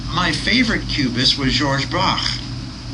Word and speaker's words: Braque: Actually, my favorite cubist was Georges Braque. Yeah, that's how you pronounce it. Maybe it's Brock, There's no C-H-E there, I guess.